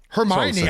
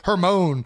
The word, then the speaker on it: Hermione: Hermione. I don't even remember what I thought Hermione was. I I think it was Hermone.